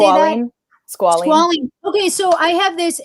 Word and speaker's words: squalene: Squalene. Okay, so I have this, and I am so sorry. My best friend sells these products, but I looked at the ingredients. They're all natural. Well, squalene was one of the ingredients, and I didn't